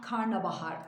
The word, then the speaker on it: karnabahar: fasulye mandalina bu karnabahar karnabahar doğrusu hep karıştırılır karnıbaharlı günlük hayatta Tabii ki bazı kelimeler için aslında bazı söylemişler için galatı meşhur diye bir kavram an size bahsetmiştim bir terim diyelim artık yanlışı kullanmak kullanılan doğru kabul edilenlerden biri Ama doğrusu hem yazılırken diye söylenirken karnabahar değil olarak yazmamız gerekiyor güzel sebze